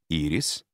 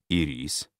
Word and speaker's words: ирис: помогает различать разные слова ирис ударение падает на первый слог ирис ударение падает на второй слог в первом че этот цветок во втором конфета другие примеры мука мука